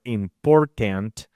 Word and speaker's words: important: here is one example, let's think about the word important. So it will be like doing this, important. Understanding the word stress here is placed in the second syllable.